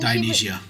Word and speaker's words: Dionysia: I can't pronounce her name, but our cousin, wasn't Dionysia. she? Think Dionysus, but female. It's just Dionysus in a female form.